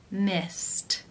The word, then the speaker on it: missed: Missed, missed. How do you pronounce this word? The final infinitive sound is the T sound.